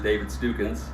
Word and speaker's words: David Stukins: now my name is David stupids jr. we do have a ongoing joke about the house pronounce my last name there's a lot of variations of it but it is David's tucán I am fern Illinois